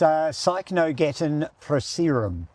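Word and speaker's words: Cycnogeton procerum: Okay, you pronounce the botanic name. Oh, do I have to? Yes. Yes, it's Cycnogeton proceratum.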